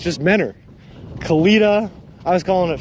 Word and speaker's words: Mentor: what even is mentor it's just dropped the t it's just mennor khalida i was calling